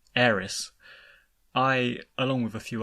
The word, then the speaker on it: Aerith: and as someone who grew up calling her Ares instead of Eris I along with a